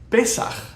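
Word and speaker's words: פסח: It's pesaχ.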